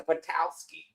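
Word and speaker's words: Petoskey: Yeah, it's a Petal ski. That's how I've always said it. John said that's the proper way to say it.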